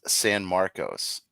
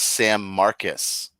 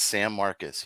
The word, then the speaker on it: San Marcos: It's not pron it's not pronounced San Marcos. It's San Marcus. San Marcus. Yeah. Is that Is that the Texas swing? That is how they pronounce it. It's San Marcus.